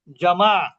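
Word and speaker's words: جمع: তাসনিয়া বহুবচনকে বলা হয় জমাজ মানে কি দুই এর অধিক তাহলে একবচনকে কি বলেনকে কি বলেনিয়া বহুবচনকে কি বলে জামা আসলে উচ্চারণ জামা হবে কিন্তু আমরা কি বলি তাস জমা জমা বলি জমা এইযে আমরা ব্যাংকে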